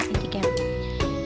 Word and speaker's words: etiquette: Etika juga berasal dari bahasa Prancis etiquette atau biasa diucapkan dengan etiket, yang artinya kebiasaan cara bergaul berperilaku.